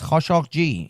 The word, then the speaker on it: Khashoggi: It's Khashoggi is his pronunciation.